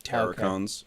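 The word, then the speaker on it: Terrorcons: I guess it's called it's spelled like Terror but it's pronounced like terracons yeah so even on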